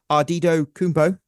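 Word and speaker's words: Antetokounmpo: Milwaukee Bucks power forward Giannis Kumbo, pronounced that in the Nigerian way.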